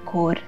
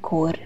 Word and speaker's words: cor: 下面两句 senza di te languisce il cor， senza， senza， di， di， te， te， languisce， languisce， il， il， cor， cor。